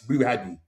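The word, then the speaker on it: Bouaddi: If we break it down, it's Boo Hadi. Boo Hadi. So that's how you pronounce it.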